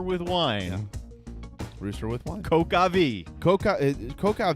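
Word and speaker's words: coq au vin: wine rooster with one coca v coca coca V actually can be pronounced coke like Coca Cola yes or talk again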